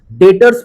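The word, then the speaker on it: debtor: अब पढ़ते हैं डेटर। सर डेटर क्या होता है? डेटर्स में देखिए बी यहां पर जो है वो साइलेंट है। अब बी को साइलेंट कर आप पढ़िए तो आप पढ़ेंगे डेटर।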